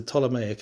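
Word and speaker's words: Ptolemaic: pronounce as well, cuz it has a P in front of it, which is silent, so you don't say the P, but it's the Tomic Empire, which kind of covered Egypt and Judea, Palestine.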